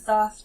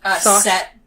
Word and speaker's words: Thoth: I don't know how to pronounce his name. I think it's Thoth. Thoth.